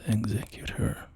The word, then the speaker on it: executor: I have been calling him the executor. And in any other context, if you're talking about, for instance, somebody who carries out a will, I would pronounce that word as exeutor. But for some reason in the context of this game where this character, you know, executes people, it just felt appropriate to call him the executor.